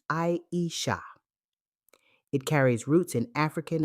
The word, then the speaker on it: Aisha: Her name is pronounced Aisha.